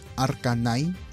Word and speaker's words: RK9: me di cuenta que en realidad se pronunciaba arcine como el Pokémon la verdad que yo